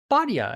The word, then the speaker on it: Bhatia: Why do you keep saying Bhatia and not Bhatia? Like his name Bhatia. is Bhatia. It's not that.